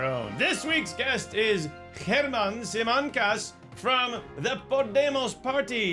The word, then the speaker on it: Germán: This week our guest is German Germán Simancas. I know it's spelled German. He's not German, and let's get that right out of the way.